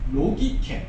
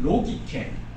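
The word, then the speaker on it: λογικὴ: 여기에 쓰인 헬라 말은 로기케, 굳이 발음을 해보자면 로기케 들으면서 느낌이 오잖아요. 로기케에서 생겨난 영어가 로지컬이라든지 로직, 논리라는 단어라는 거죠.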